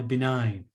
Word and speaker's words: benign: say this word b9 like the word like like uh like nine yeah benign okay so um function